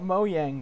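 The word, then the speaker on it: Mojang: I don't know what Moe yang does anymore by the way that's how you pronounce their company name I don't know what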